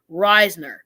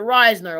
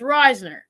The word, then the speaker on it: Risner: before we signed Dalton Reisner I'm finally gonna pronounce it Risner okay so guys it's Risner I figured that out